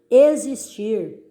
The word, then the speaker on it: existir: Existir, existir, som de Z.